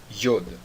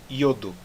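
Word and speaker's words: יוד: Yod. Como é que nós pronunciamos o Yod? Como o som do I na palavra Yodo. Tá certo? Bem parecido também até com o nome da letra.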